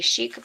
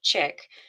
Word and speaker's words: chic: can also just say chick. So let me know um which way you pronounce it. Do you pronounce it fancy or do you pronounce it like a baby chicken?